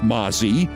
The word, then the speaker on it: Mazi: her name is pronounced Mazi but it's spelled m a zi you know like Nazi but with an M her only tenuous connection